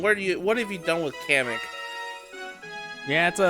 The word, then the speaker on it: Kamek: Who's this, and what have you done with Kamek? Yeah, it's a different Magic Koopa this time. I'm sorry, Comic, as Nintendo wants to say his name is.